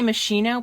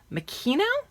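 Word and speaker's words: Moschino: me I believe it's I used to say machino but somebody said you have to put a K in it so it's minino anyway I'm sure somebody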